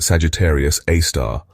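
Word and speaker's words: Sagittarius A*: Its official name is Sagittarius A, pronounced Sagittarius Aar or Scar A for short.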